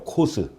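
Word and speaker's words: Coase: 여튼 원래 이제 그 시카고 대학에서 시카고 대학 교수였던 분인데, 그 시카고 대학에서 공부한 그 선생님들한테 물어보면 시카고 대학에서 이제 코스라고 읽는데요. 코스.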